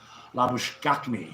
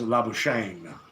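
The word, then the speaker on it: Labuschagne: times in Australian media his pronunciation is actually the South African pronunciation of laush so m laush on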